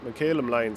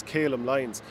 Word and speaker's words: Callum Lyons: The half back line, Callum McCallum Lyons, I sometimes still pronounce his name wrongly, it is Callum Lyons, but he had a